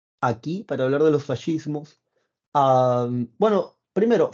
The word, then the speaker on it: fascismo: para hablar de los fascismos bueno primero fascismo es una palabra italiana cuando tú leas esc se pronuncia como fascismo bien así se pronuncia es una palabra italiana